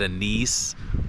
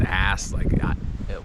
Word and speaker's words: anise: It had that anise, or I called it ass. How do you pronounce that?